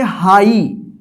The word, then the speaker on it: high: हाई, हाई के नहीं पढ़ेंगे, हाई।